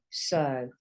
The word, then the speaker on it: so: This one's a long O. So.